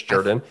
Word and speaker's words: Jordan: That is how you pronounce her last name. It's Jordan.